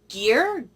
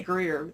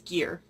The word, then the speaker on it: Gier: Ruby Red by Kirsten Gier, Gier, I keep wanting to say Greer, that sounds normal, but it's Gier.